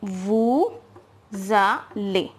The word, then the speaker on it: allez: Double L will be pronounced as L, and EZ, as I have written here, EZ is pronounced as A in French. So whenever you see this EZ, it will always be pronounced as A in French. So L plus A will become Le. So together we will read this now, Vous allez. It will become Vous allez, which means you go.